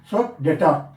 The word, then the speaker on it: debtor: So cash account debtor. We can say how? Cash account debtor. So which is silent? E is silent. D-E-P-T-O-R. Correct. So debtor.